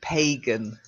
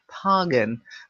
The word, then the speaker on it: pagan: that's it and the last one again the long a pagan now I say that but I know that in some circle circles and I believe in pagan circles they say phangan but honestly I if you're talking normally you would say pagan so like that pagan